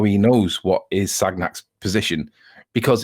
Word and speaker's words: Sagnac: The Sagnac experiment, or Sagnac, if you want to pronounce it the way that the French say it, it's not easy to